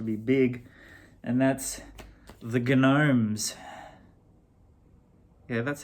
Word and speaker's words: Gnomes: I think these dudes might be about to be big, and that's the Gnomes.